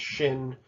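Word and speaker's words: שׁ: Sin makes an S sound, and shin makes the SH sound.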